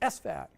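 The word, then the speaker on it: SFAT: others like s-fat oh so it's not s-v-a-t it's s-fat you don't you don't care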